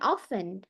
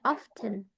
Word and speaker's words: often: ada baca often ini ada yang bilang often often t-nya enggak dibaca ada juga orang yang aksennya bacanya bilangnya often t-nya tip often often